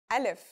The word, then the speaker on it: alif: We'll start with alif. So what sound does this letter make? That's easy. It's just like its English counterpart A in the word apple.